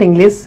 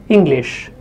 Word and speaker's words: English: Many learners find it difficult to pronounce and they replace this sh with s, and they might say English. It's not English, it's English.